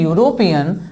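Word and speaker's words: European: इस वर्ड का प्रोनाउंसिएशन हम लोग करते हैं यूरोपियन, जो कि थोड़ा सा गड़बड़ है।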